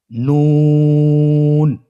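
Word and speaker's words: نون: আপনারা স্ক্রিনে দেখতে পাচ্ছেন জিহ্বার আগা তার বরাবর উপরে তালের সঙ্গে লাগিয়ে উচ্চারিত হয়। আপনারা জিহ্বার আগাটা তার বরাবর উপরে তালের সঙ্গে লাগিয়ে উচ্চারণ করুন এবং আমার সাথে বলুন নুন।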